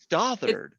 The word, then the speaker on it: Stothard: butcher your name, Lisa Stothard. Stothard. Stothard? Stothard. Stothard. It's British, so okay. Like if you try to pronounce it with an English accent, it'll sound better.